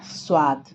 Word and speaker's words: स्वाद: स्वाद में कौन कौन सा अक्षर संयुक्त है, स और व, यानी कि आधा स और व मिला तो ये हो गया संयुक्ताक्षर। और इसका उच्चारण कैसे होगा, स्वाद।